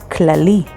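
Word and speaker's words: כללי: spelled with haf and lamid and means all clali spelled with haf lamid lamet yod and means general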